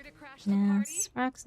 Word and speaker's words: Svarog: Monitoring automaton Svarog. Extermination protocol launch. Successful. Annihilation permitted. Ooh, we're fighting against Sprog. Oh god. Calculating result. Here to crash the Now, party? Sprog's name in 2 syllables.